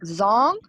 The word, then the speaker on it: Zhong: spelled like Zong. It's pronounced Okay. Zong.